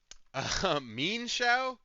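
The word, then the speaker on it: Mienshao: Anyway, meanshow is how it's pronounced technically. Mean sha. that. That's awful. I hate that. I don't like that at all. I would rather do mineshow or mesh than than mesh shies at FBI,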